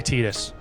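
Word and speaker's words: Tidus: I refuse to say Tetus. It's Titus or nothing, dude.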